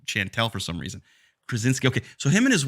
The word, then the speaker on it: Krasinski: I can never pronounce his last name. John Krasinski. I want to call him Kraviatsik, like Chantel for some reason. Krasinski.